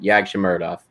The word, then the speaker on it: Yagshimuradov: That's how you say it, Yagshimuradov.